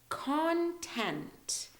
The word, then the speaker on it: content: spelled this way but this is how we say them content so there's more emphasis on the con the first part of the word here content this is